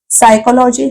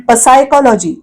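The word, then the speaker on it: psychology: लांबलचक स्पेलिंग आहे पण पहिलं पी पी म्हणजे प उच्चार पण पसायकॉलॉजी अस आपण नाही म्हणत आपण उच्चार कुठून करतो एस म्हणजे स पासून सायकॉलॉजी पासून पी प चा उच्चार पी चा उच्चार होत नाही म्हणून पी हे अक्षर आहे सायलेंट रिस रिस आता अगदी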